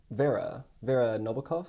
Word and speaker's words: Nabokov: And so for people like Vera Nabokov, is that how it's pronounced?